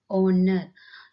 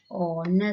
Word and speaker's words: honor: See here, that is R, honest, honor. In all the three words, the H is silent. Okay, so how you pronounce this word? That is R and honor. So the pronunciation starts from the O.